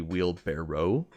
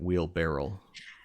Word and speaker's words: wheelbarrow: think I know that it's supposed to be wheel barrow but I feel like I do pronounce it wheel barrel what the I don't I